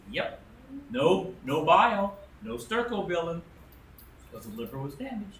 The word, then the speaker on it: stercobilin: The sterco, how do you pronounce it? The Stercobilin.